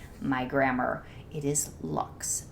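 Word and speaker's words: Luxe: comment on my channel that's the Lux leaves not the Luke's leaves and I apologize to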